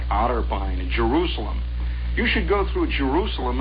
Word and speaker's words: Jerusalem: and you come whistling at Jerusalem by the way is the way it's pronounced out there you start coming into